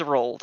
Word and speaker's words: Roald: So His name is Rolled. I've decided. Not a How traditional goblin name. do you spell it?